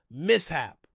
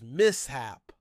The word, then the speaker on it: mishap: has caused countless spelling mistakes over the years mishap the correct pronunciation is mishap but many Americans say Misha as in both